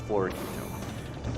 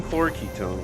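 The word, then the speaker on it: fluoroketone: say it in my last video but it's Flor Ketone so you take some Flor Ketone which I get from quilo in barrels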